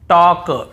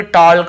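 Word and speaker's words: talk: देखिए यहां पर भी हम टॉक टॉक वॉक वॉक चॉक चॉक योक योक फोक फोक ऐसे पढ़ रहे हैं। कहीं पर भी टॉल्क वाल्क चाल्क yolk folk नहीं पढ़ रहे हैं।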